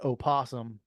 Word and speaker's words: opossum: It's an opossum. I think everybody just So the O is not silent. no. Oh, I thought the O was silent. It was just a possum.